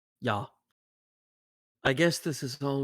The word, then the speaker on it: ja: Ja. It's pronounced yeah. Ja.